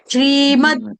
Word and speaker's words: श्रीमद्: ही बदल जाती है ये संस्कृत है श्रीमद् भगवत गीता द दोनों हलंत बाकी श्लोक ठीक ही